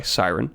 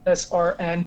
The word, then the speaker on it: SRN: He goes by Siren. Say hello. Hello. How's it going? What's up, Siren or SRN, if you want to pronounce it incorrectly, because that's what I use on all my social media sites.